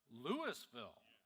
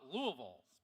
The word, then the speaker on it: Louisville: Lewisville, not Louisville. Okay. Oh, so, so, so Louisville is the one further north and Lewisville is Mississippi.